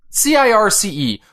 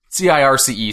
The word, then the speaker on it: Circe: Circe. Like Cersei Lannister. Yeah. Circe, Circe.